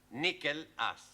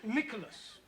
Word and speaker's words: Nicholas: upon a times there was a man called nickel ass it's not quite right no no once upon a time there was a woman called nickel us it's pronounced Nicholas all right once upon a time there was